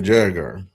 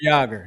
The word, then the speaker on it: Jagr: And Mario Lemieux and Jeremy Jagger. And I don't know if you ever remember this. Jeremy Jagger. He was Yager, yes.